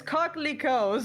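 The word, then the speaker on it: coquelicot: Yeah, okay, so I'm confirming the pronunciation is cocklico.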